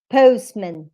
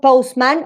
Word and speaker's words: postman: violet violet postman postman it's not postman or postmen in this one in this case it's plural not postmen no because post is the strongest so he this one needs to be um weak that's why we have a postman postman postman no postman